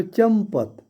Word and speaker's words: चंपत: लेकिन यहाँ पर पढ़ा जाता है इसको चंपत। यहाँ जो बिंदु है इसका उच्चारण आधा म की तरह होता है, म की तरह होता है।